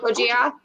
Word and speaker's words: Gojira: It's pronounced Gojira. Godzilla. Yes. No, it's Gojira.